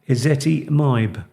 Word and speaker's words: ezetimibe: Perhaps you'd like to say that again and try and spell it. ezetimibe, Yeah. which is E-Z-E-T, Yeah. Z-I, Right. and then M-I-B-E, ezetimibe.